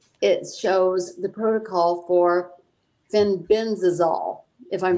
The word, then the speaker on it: fenbendazole: And it shows the protocol for fenbendazole, if I'm saying that right.